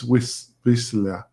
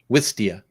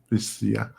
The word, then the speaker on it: Wistia: useful and it provided some marketing tools is W Vista. I always am how am I pronouncing it? Pardon? Wistia. I always struggle with this Wistia.